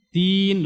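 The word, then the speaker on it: دين: Perhatikan di kata ad-din. Ya, kalau panjangnya ini namanya mad arud lisukun, atau dia bisa dua harakat. Maksudnya panjangnya seperti panjang pengucapan dua huruf. Din dua harakat berarti seperti panjang na'a gitu ya, dua huruf na'a. Din bisa juga empat harakat, bisa juga 6.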